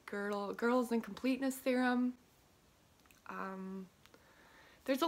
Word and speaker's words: Gödel: One that I really like that I might talk about more is, I think I'm gonna say it wrong, but Gödel, I think it's more like Gödel, Gödel's incompleteness theorem.